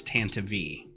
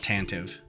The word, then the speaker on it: Tantive IV: um and in uh on Wikipedia it's the pronunciation guide says Tanta V so that should put it to rest but it doesn't people will continue to call it tantive um or tantive even